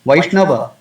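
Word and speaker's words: वैष्णव: In Hindi, we write Vaishnava, but we pronounce it Vaishnav.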